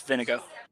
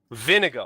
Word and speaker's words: Vinigo: It's Vinigo. Vinigo. Vinigo. Kind of like vinegar, but with an O at the end.